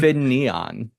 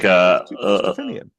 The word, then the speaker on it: Finneon: Finneon. Like Finneon. like an Eevee evolution.